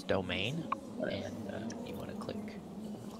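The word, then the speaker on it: demesne: It's And you wanna it's spelled like Demezen, but it's domain, and you want to click that.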